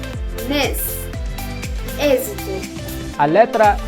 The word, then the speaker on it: mês: It has a closed E sound. mês, êxito.